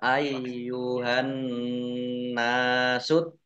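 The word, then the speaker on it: يا أيها الناس: Ya ayu, ya fathah berdiri, mat tobi'i. Ya. Tetapi karena bertemu dengan huruf alif di kata yang berbeda, ya ini meskipun gandeng tapi sudah beda kalimah, sudah beda kata. Maka menjadi mad jaiz munfasil. Dibaca panjang boleh 5, boleh 2 harokat. Ya ayyuhan nasu. An-nasu yaknya ya ayyu yaknya dibaca double ada tasdidnya ayyuhan nas.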